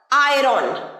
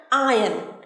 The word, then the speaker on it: iron: আয়রন, ভুল, একদম ভুল উচ্চারণ, একদম এরম বলবে না, সঠিকভাবে বলবে। কিভাবে বলবে? আয়ন, আয়ন, আয়ন।